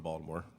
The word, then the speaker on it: Baltimore: Baltimore, for those of you who are from Baltimore.